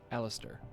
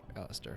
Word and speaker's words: Alistair: like the sword word aliser sorry wait no okay but they keep pronouncing it alist Alister so I'll say it I'll pronounce it right maybe it'll be